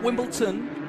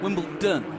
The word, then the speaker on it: Wimbledon: in Wimbledon white in Wimbleton white no not Wimbleton Wimbledon wion yes Wimbleton got makes sense that's all